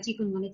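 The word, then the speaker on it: chikungunya: ওকে, second হলো চিকুনগুনিয়া। এটা must কিন্তু বলতে হবে চিকুনগুনিয়া।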